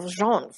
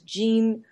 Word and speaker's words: Jean: of pants je aan some people in Europe will think that I'm a man because it looks like a very French named Zhang but it's actually how I pronounce it as Jean very American sounding okay cool good and